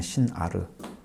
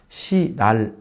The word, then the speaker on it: 신아르: 말은 이제 어 어 우리 원문을 볼 때는 신아라 돼 있습니다 신아르 시날 아닙니다 발음은 신이라고 하면 안 됩니다 신 아라고 해야 아마 다른 성경에 뭐